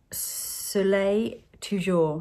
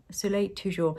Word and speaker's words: Soleil Toujours: So this is something that I needed to perfect, if you like, and that's the Soleil Toujours. I wanted to get my pronunciation right. Soleil Toujours.